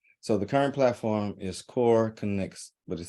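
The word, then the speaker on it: KoreConX: being housed yes so the current platform is core connects which is spelled funding it is k-o-r-e-c-o-n-x now anybody that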